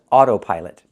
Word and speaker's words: autopilot: The first word is autopilot. The first O is the long O like no and go.